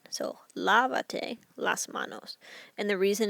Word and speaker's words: lávate: That's 3 syllables. So I'm going to have to add an accent. Now, if I'm looking at the verb lava, lava, the next to last syllable is this first A. So that's going to get my accent.